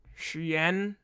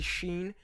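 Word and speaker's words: Shein: doing some shady things Xi'an that's a wild mispronunciation it's actually Sheen get your [ __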